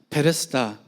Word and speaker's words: 베데스다: 하는 단어가 합쳐진 말이에요 백과 헤세드 를 합쳐서 빨리 말하면 베데스다 이런 발음이 됩니다 헤세드 는 뭐냐 어